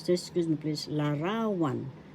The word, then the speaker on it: larawan: ra third syllable one the accent is in the second syllable ra so we say this at pronounce we pronounce this excuse me please larawan larawan this means picture in